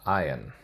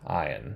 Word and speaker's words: ayin: There are 2 letters in the Hebrew alphabet that have lost their guttural sound, and so now they're silent letters. The first is Aleph, the first letter of the alphabet, and this is the other one, ayin. So when you see that, there's no sound.